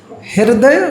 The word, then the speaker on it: हृदय: लिखा है ना अच्छे से लिखा है ना हृदय वर्तनी तितली भवती हृद हृद के साथ र भी बोलना है। जो ऊपर रेप लगी है ना र का उच्चारण भी करना है।